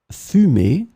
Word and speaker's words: fumer: In this lesson, we will see together two words that are written differently but pronounced the same way. Fumer, fumer.